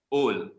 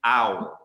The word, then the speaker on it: owl: reason, during that time would pronounce this word as old. Baru lahir saja dah old. Okay, old. Okay, no, it's not old. It's so wrong. Menangis burung ni kalau dengar. It is actually owl. Owl.